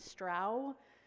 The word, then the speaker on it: Strauch: say my name is stra as in wow there's stra um